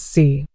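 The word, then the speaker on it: 四: The number 4 in Mandarin Chinese is pronounced as si. This pronunciation is almost identical to the word for death, which is si. The only difference is a tonal one. Si for 4 is said in the 4th tone, which is a sharp,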